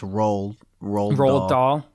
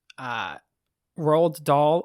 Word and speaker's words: Roald Dahl: I thought it was like just Roald Dahl.